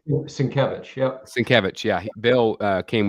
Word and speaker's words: Sienkiewicz: I always say his name wrong. Sienkiewicz, is that right? Sienkiewicz, yep.